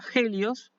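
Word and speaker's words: ἥλιος: a ver eso pero esta palabra se pronuncia genios y significa sol es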